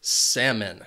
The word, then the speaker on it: salmon: It has 2 syllables and the stress is on that first syllable. Salmon. That second syllable has that schwa sound. It's an unstressed syllable. Salmon. And the reason why this word is commonly mispronounced is because of that L. This is a silent L, so you can forget about it, get rid of it when you're saying the word, and you would just ask for salmon.